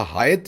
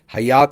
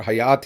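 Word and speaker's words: Hyatt: तो अक्सर लोग समझते हैं कि यह शायद कोई मिडिल ईस्टर्न नाम है या कोई मुस्लिम नाम है तो लोग अक्सर इसे हयात समझते हैं और हयात ही इसे प्रोनाउंस करते हैं।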